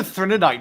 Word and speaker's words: Threnody: Well, we're in the Threnodite system. Threnody is the name of the planet that we're on. This is the only novella. By the way, where- I kept thinking it was Threnodite, but on the audiobook, it kept saying Threnodit.